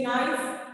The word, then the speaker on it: knife: But when it comes to knife, we say knife, but K is silent.